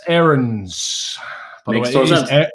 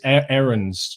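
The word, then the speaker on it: Aarons: very good goalkeeper say uh max ahrens it's aaron's drew you gotta practice pronounce his name correctly perfect um no it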